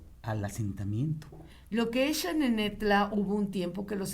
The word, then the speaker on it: Xanenetla: denominaban al pueblo al asentamiento lo que es xanenetla Hubo un tiempo que los españoles la escribían